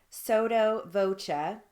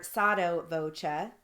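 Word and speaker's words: sotto voce: action voca means voice soto voca or sato voca or you can say sato voci means in a soft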